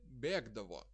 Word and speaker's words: bėgdavo: Bėgti, bėgdavo is like k.